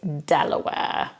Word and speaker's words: De La Warr: and Pascoe the policeman then we've got de la Warr or Delaware de la Warr nope it's Delaware which you'll probably know if you're in American it's Delaware then this one is